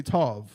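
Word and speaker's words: טוב: um mazel tov they don't say tawab they say tov right disgusting right they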